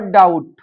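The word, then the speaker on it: doubt: तो इनमें जो है टी से जो पहले बी लगा है तो इसका उच्चारण हम नहीं करेंगे।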